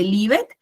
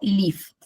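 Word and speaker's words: lived: Entonces, lo mismo, no se dice livet, sino que yo digo lift.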